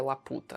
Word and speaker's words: Laputa: ラピュタっていう空 Essa é Laputa. Ué, 空に浮いている島。伝説って言われてたけど、僕の父さんは見たんだ。 Na verdade, a pronúncia seria Laputa, né?